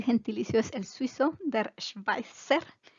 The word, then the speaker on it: Schweizer: El gentilicio es el suizo, der Schweizer. Recuerden que la Z es fuerte como una TZ.